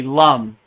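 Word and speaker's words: लं: honest with you so it looks like lamb but it's really Lum so the Bea for the root chakra is Lum l m Lum and when you vibrate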